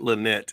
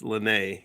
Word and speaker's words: Lene: It's not Lynette, it's Lene.